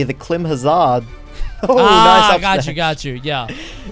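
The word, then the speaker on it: Climhazzard: I say Climb Hazard, but I feel like I'm always going to get, like, made fun of for that. It's spelled Klim Hazard, so I never know.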